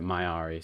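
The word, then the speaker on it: Myari: that did she any i deem to pronounce it mayari since that's apparently how it's pronounced leah good faith to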